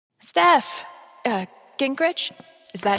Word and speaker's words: Gingrich: Sтэф, Gingrich?